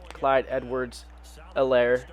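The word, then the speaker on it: Clyde Edwards-Helaire: him more than um clyde edwards elaire um the h is silent i use him more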